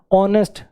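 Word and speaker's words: honest: गया ऐसे इनको देखो इसमें एच साइलेंट है आर आई I waited for यू I waited you फॉर एन आर आर अ एन आर लगेगा आयर मतलब उत्तराधिकारी आयरस मतलब लड़की उत्तराधिकारी हो ऑनेस्ट सब में एच साइलेंट है ऑनर ऑनर सब में एच साइलेंट है सब में वोव साउंड बन गई सब में एन आ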